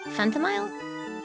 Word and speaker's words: Phantomile: It's pronounced like chamomile? Phantomile?